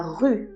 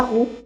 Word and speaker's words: rue: comme un I, mais il faut faire attention à le prononcer comme un U, comme quand on dit la rue par exemple. Pas la roue, la rue, ou bien la lune.